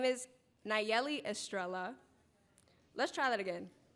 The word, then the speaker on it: Nayeli: poem is about representation hi my name is nigelli Estrella sorry hi my name is Nayeli Estrella let's try that again hi my name